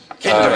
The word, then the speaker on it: Kinder: It is actually rhymes with Tinder egg. Kinder egg.